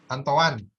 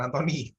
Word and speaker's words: Antoine: Antoan, bukan Antoni. Tulisannya Antoine. Tulisannya Antoine, dibacanya Antoan.